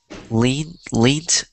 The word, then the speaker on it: leant: It's spelled lent. It's spelled like it's a weird word. I'm gonna write it for you. It's like this: L-E-A-N-T, lent.